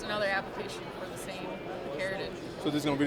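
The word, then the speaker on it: Picaridin: Picardin is how you say it? Yes. I would say Picardin.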